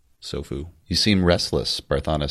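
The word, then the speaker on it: Tsofu: The T is silent. Sofu.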